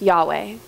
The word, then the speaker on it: Yahweh: English it comes out to yhw H and pronounced Yahweh but the Israelite people in the ancient Jewish